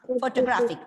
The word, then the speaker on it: photograph: like photograph photograph cryptography photography here we saw in the word photograph the first syllable is stressed when it becomes photography